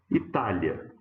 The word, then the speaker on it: Itália: Então a gente tem, por exemplo, a palavra Itália. Ó, paroxítona com um ditongo na última sílaba.